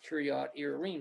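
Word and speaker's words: Kiryat Jearim: as kyriad irene in our english bibles it's kiryat jiram but properly pronounced kyrie irene so it's saying that david went to kiryat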